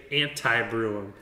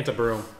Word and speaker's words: Antebrewum: Ryan does tend to say Antebrewum. Yeah. I say Antebrewum. I think you said it earlier, actually. Yeah, Antebrewum.